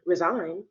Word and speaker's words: resign: letter the G in resign you can't hear it but the G in resignation you can hear that so for that it's